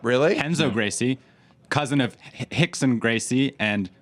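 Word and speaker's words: Rickson: Enzo Gracie, cousin of Hickson Gracie and Hodger Gracie, and You train with they the all Gracies? have an R in their name and they all pronounce it like an H.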